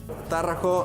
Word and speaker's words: Tarraco: Tarraco is the right pronunciation.